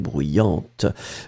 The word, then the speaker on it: bruyante: D'accord, you will pronounce this t in the end for the feminine. So bruyant and then bruyante.